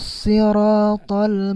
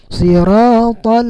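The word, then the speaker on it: صراط: Jadi itu awal ayatnya huruf sod, jadi dibacanya si bukan si. Sirata itu tidak tepat. Jadi siratal ladzina an'amta alaihim.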